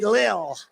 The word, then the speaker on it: Lil: few rapper Lil pump L pump L Lil I said how do you pronounce that they said Lil and a great pitcher